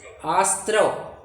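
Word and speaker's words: आस्रव: आश्रव आश्रव स्त्री स्त्री जैसे स्त्री बोलते हैं ना अपन स्त्री पहले स्त्री बोलिए फिर हां स्त्री अब वैसा आस्त्र बोलिए स्त्री आशस्त्रव वैसा स्त्री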